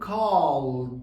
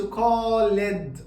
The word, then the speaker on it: called: فعلى سبيل المثال بنقول changed، ما بقولش changed غلط، بقول called. ما بقولش called غلط، ما بنطقش الاي اصلا.